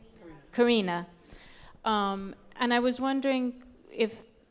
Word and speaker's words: Karina: it paralleled his relationship with Anna Karenina. How do you pronounce her name? Karina.